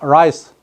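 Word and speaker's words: rice: 이 라이스 발음 잘해야 됩니다. 자, 라이스. 이거 L로 라이스, 그냥 라이스 이렇게 하면 뭐 됩니까? 머리에 입니다. 머리 안 감고 하면 생기는 이. 그래서 발음 잘해야 됩니다. 라이스. 조금 남들이 볼 때 좀 뭐 거시기하다 할지라도 라이스 굴려야 됩니다. 그래야 알아듣습니다.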